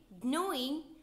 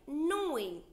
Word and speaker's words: gnawing: When you say gnawing, the letter G is silent, is sound like gnawing.